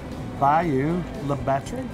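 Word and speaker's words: Bayou La Batre: So we went to Bayou Le Batre. That's right. Did I pronounce that right?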